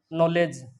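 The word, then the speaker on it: knowledge: जैसे रोमन लिपि में होता है, हम लोग लिखते हैं नॉलेज, नॉलेज को हम लोग इंग्लिश में इस तरह से लिखते हैं। तो इसमें एक तो ये के साइलेंट हो जाता है, डी साइलेंट हो जाता है।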